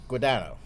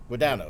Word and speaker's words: Guadagno: Guadagno is how it's pronounced. Yes. Correct? Okay, Guadagno. good. No, I knew a guy who spelled it the same way, but he used to pronounce it Guadagno.